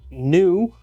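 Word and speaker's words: ν: All right, frequency, pronounced nu.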